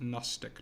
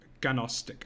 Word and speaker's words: Gnostic: high yes sometimes among it's pronounced Gnostic not gonostic I love you so